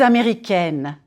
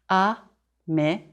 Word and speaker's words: américaine: If you are a woman, je suis américaine, américaine. Américaine. Flatten your tongue on the N and close it, N. Here, try this. Say egg, and then N. Américaine.